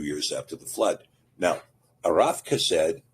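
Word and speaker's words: Arphaxad: Now, arafased is usually discussed in most English texts as arpsheted. This is a this is a Yiddish pronunciation of the Hebrew word and it ignores uh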